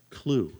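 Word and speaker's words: CLUWE: They've created an information hub, integrated thing they call, here's another one of those acronyms, CLUE, C-L-U-W-E. Now, I don't know, the W is silent, right?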